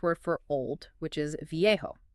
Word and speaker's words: viejo: Okay, let's take the Spanish word for old, which is viejo, pronounced roughly vo. Got it. Vjo.